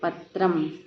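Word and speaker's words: पत्रं: और इसका उच्चारण किस तरह होता है? आधे माँ की तरह होता है। देखिए, जैसे पत्र लिखा, ऊपर ये अनुस्वार लगा है ना, तो इसे हम क्या कहें? पढ़ेंगे पत्रम।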